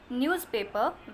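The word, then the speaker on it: newspaper: बहुत से लोग न्यूज़पेपर को न्यूज़पेपर बोलते हैं यानी NEWS का S स जैसा प्रोनाउंस करते हैं, लेकिन उसे ज की तरह प्रोनाउंस किया जाता है न्यूज़पेपर, ना कि न्यूज़पेपर।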